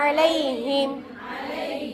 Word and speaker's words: عَلَيْهِمْ: வ அர்சல அலைஹிம், ஐன் நல்லா உச்சரிக்கணும். அலைஹிம், இந்த ஐனுடைய இது என்னன்னா நடுவுல வந்தா கூட ஐன் வந்துடும்.